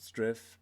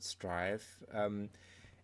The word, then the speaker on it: Striv: So Striv, actually without an E, so I would have pronounced it Striv, but they pronounce it Striv, is essentially a pair of insoles with an